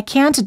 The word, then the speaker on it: can't: say can or can't the silent te is one of the reasons why you may have a hard time hearing the difference between the words can and can't instead of saying I can't do it Americans hold the te